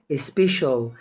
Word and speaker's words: special: طبعا السي هنا مش هنطقها س او كاف كالمعتاد. هنا تركيبه مع بعض لما بيجوا مع بعض كده كباكدج بتنطق شين زيها زي الاس اتش السي اي والسي اي اي والسي اي او يلا بينا كده نشوف